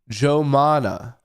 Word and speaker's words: Joumanna: Joumanna Like Joanna, man? Was she in that movie? It's Arabic. Joumanna One more time. Joumanna Joumanna Apparently, it's Arabic.